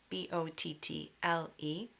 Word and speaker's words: bottle: It's almost as if the spelling should be EL. It sounds like EL. So for example, in a word like bottle, B-O-T-T-L-E, you can imagine this pronunciation is like this, B-O-T-T-E-L, bottle.